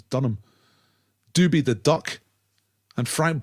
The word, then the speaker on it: Dunham: It's not Durham, it's Dunham.